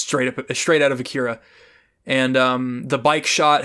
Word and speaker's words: Akira: whichever you prefer um the japanese pronunciation would be akira but but akira rolls off the tongue for if you're if you're speaking english um it uh i